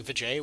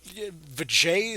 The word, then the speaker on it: VJ: Says VJ, a guy who I kept calling Vijay, which sounds like, you know, VJ Sukier, apparently.